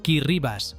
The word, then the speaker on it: Kiribati: Kiribati, pronunciado Kirribas, porque en la lengua gilbertesa la combinación ti suena como ese Kiribati es un